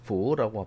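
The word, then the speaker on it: 扶: help 이런 말이고 발음으로 중국 발음으로 fu라고 발음하라고 백자인에서 허증을 도와준다.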